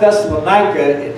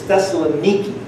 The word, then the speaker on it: Thessaloniki: The city is not Thessalonica, the city is Thessaloniki. That's how they pronounce it in Greece.